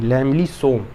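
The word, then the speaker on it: lamellosome: इसका होता है लैमली या लैमलो होता है, नहीं लैमली सोम, ठीक है।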